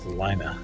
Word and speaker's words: Salina: Salina is at least the way we pronounce it here.